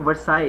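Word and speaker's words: Versailles: Because countries were like, इन्होंने लिखा हुआ है बिल्कुल ये पहले पॉइंट पे, treaty of वर्साय, Ayesha, treaty of वर्साय इसको प्रनाउंस करते हैं।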